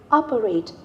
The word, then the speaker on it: operate: is me van Han operate the stress is on the first syllable now let's move it